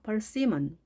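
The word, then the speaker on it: persimmon: 이 io 모음 있습니다 가운데에 강세가 있습니다 펄스 임은 이것을 그냥 80 만 이렇게 앞에 두지 마시고요 가운데 있다는 것 정확하게 강세를 발음 해주셔야 좀더 유창성 이 봐야 되겠죠 벌스 힘은 폴 c 먼 우리만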